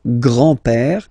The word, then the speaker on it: grand-père: So, le grand-père, grandfather. Le grand-père. Remember, E accent grave like that. It's this opened père.